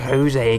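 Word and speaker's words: José: over there a camper Jose is built with Jay but pronounced Jose guys Jory guy gotta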